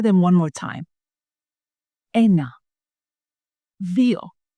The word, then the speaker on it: ένα: And some students say eno, dio, trie. You know, so the last vowel is the problem, but you can remember 3 vowels, right?